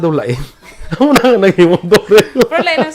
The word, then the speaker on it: Dorel: Ano na naging Dorel? Pero lain ang spelling niya. Nabasa ba na Duril niyo pronounce ang Y mo, ang tako niya E, so Dorel.